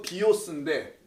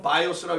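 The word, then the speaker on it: βίος: 그래서 그런 게 아니고 이거 비오스인데 자 비오스 이건 비자고 영어 쓰면 이렇게 비오스예요. 영어로는 바이오스라고 읽어야 되겠지.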